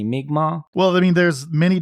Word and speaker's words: Mi'kmaq: Micmac. Yeah, Micmac Cemetery, to be clear. At least that's how they pronounce it in the film. Yeah. It's true. I researched the pronunciation. It's supposedly supposed to be Mi'kmaq.